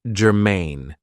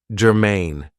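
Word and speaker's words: germane: have for you is Germain now this is two syllables and the stress is on the second syllable Germain it means that something is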